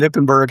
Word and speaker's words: Knippenberg: And Knippenberg has a silent K on the front.